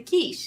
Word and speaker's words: quiche: We're like, "We have the quiche," and I was like, "That's how that's pronounced."